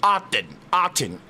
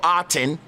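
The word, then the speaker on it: Aten: inflectional uh uh origins it would have been pronounced guide. You say God today just like the god Odin is the pharaoh. Autton. A T E N. Pharaoh Autton.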